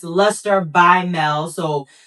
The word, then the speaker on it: Melle: the R are backwards, but it's Luster by Mel. So L U S T R E B Y M E L E.